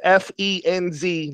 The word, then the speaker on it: Step Fiends: now if you type the step fiends step fiends pronounced f en Z not spelled the normal way fiends is you're gonna find a slew